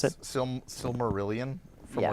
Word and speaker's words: Silmarillion: pronounce it? Silmarillion from Yeah.